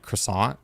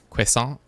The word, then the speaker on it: croissant: of Americans say for saying uh croissant instead of Quant or whatever the nicer more quote unquote correct way of saying it and then somebody was